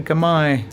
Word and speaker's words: Gamay: But um yeah, I would say a gamay. Oh, is that how you pronounce it?